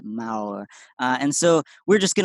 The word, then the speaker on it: Maor: I always pronounce it wrong, but the vowels are flipped. I think it's more, but it's not. It's Maor.